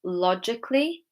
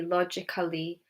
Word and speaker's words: logically: We've got logically, musically, romantically. If I were to pronounce the A, it would be logically, musically, romantically, which we don't say, okay? So the A is silent in these words.